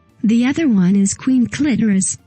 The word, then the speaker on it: Clitoris: cheapest bad guy the other one is queen clitoris pronounced clitoris who is played by serene Arwen she spends